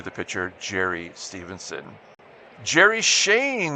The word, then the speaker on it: Schoen: Gerry Schoen. We're going to pronounce it Shane. I believe that's correct, but I'm just guessing.